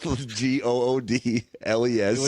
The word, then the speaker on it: Goodles: The the goodles is that the like the trendy one right now. Goodles. Goodles. It's just goodles. Yeah. But I like goodles. It sounds like noodles then.